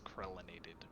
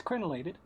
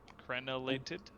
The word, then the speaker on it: crenellated: it's it literally says krelinated i think i haven't misspelled now that's crenellated yeah colonel is that not what i said crenellated you were saying krell not krenn oh crellinated instead of